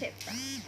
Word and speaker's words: zeta: Z ya dibacanya adalah zeta.